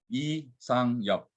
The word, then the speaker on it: Lee Sang-yup: So my name in Korea is pronounced as Lee Sang-yup instead of Sang-yup Lee.